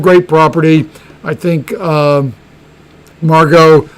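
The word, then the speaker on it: Margaux: property i think um margot i think because of the the you know it's two syllables it's the softest and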